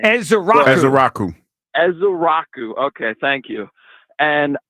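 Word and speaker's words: Ezeiruaku: Ezrau.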